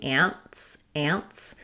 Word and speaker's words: ants: are my mother's sisters, that in ants, we don't really do a strong t. So I have one ant and two ants, that there's no release of that T. It just releases right into the S.